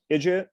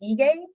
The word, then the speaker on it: Ige: So we're very honored to have Ije. Is that the correct way to pronounce it? Almost. Sorry. The G is strong, is Ige.